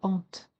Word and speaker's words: hante: Il faut bien appuyer sur le E de hante. Ta mort hante ma vie pour obtenir les 6 pieds, les 6 syllabes.